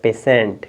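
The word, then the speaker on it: patient: टी आई ई है टी आईई है तो आप स पढ़ेंगे तो आपका हो जाएगा पेशेंट क्या हो जाएगा पेशेंट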